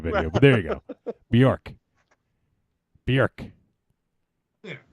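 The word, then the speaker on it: Björk: Say it with me. Bjork. There you go. Which is essentially the same way you've been saying it, but without an O in it. Yeah. Like, just think jerk.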